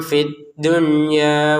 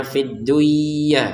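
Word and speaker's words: في الدنيا: Kemudian fid dunya perhatikan nun sukun bertemu ya. Yang seharusnya kan dimasukin ya nun sukunnya ke ya sehingga terbacanya fidduyah. Nah, nah maka untuk yang ini pengecualian ini tidak dibaca dengan dengungan, tapi dibaca dengan jelas. Fid dunya. Kenapa? Karena berada di dalam satu kata.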